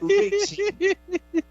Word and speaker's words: Racing: O certo, a pronúncia é Racing.